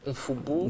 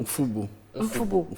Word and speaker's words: Mfoubou: Mfoubou. Mfoubou. On prononce le M. Oui. Mfoubou.